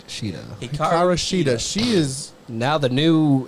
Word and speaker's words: Hikaru Shida: Hikaru Shida. Shida. Hikaru Shida.